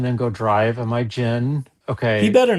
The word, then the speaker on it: Gingras: His whole thing trying to correct pronunciation, it's gin. It's like gin and grass. Gin Am I- grass. But am I- then he says am I gingras, gin? different vowels. Am I gin? Like the drink that I'm going to